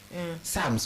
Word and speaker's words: psalms: Psalms, what is the use of P? Those are silent letters.